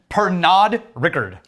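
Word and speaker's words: Pernod Ricard: bernard right so far per nod rickard that's how you pronounce that french word exactly it's not for no per nod rickard not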